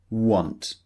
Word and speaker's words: want: So want some people might be tempted to use the the pronunciation want which is wrong. Obviously we know it's an O sound want.